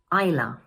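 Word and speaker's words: Isla: Number three is pronounced: eye-la.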